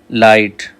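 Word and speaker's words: light: लाइट GH silent है।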